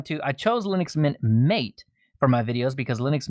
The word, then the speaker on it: MATE: I found Linux Mint Mate runs better in a VM for me. And yeah, that Mate. Mate. It's spelled mate, man. I know. It's mate.